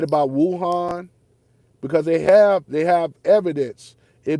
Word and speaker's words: Wuhan: It's actually pronounced Wuhan. Only because of my study of Mandarin Chinese for a year's work back then, but it's actually pronounced Wuhan, not Wuhan.